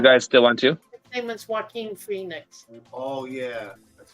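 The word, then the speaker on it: Joaquin Phoenix: spell his name because it doesn't sound like the way it's spelled true it's like Koo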